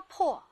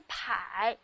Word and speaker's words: 迫: 供应、月供、供、口供、破、压迫。哦，原来这个字还可以念迫，迫击炮。